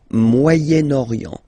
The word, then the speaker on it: Moyen-Orient: So it's interesting here because normally if you would have only this word here, you would pronounce it moyen, moyen, okay? But then as you get this vowel after, okay, you get to make the liaison between the two.